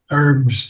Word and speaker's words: herbs: Herbs. The H is not pronounced.